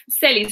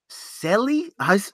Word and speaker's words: Selys: Selys. It's like Ellie, but with an S. Selys? Say slower, kind of. Okay, so you take Ellie and then you add S's to the beginning and the end.